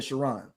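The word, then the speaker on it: Charon: No, no, not Shiron. This was C H A R O N. Like almost like a woman. Chiron.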